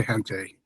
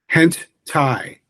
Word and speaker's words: hentai: Let's see what uh the almighty AI uh hentai. Oh, wait. It's a Yeah, hen and then tie like necktie.